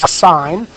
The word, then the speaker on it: sine: called the sine, okay, that's pronounced sine, S-I-N-E, pronounced just like S-I-G-H-N.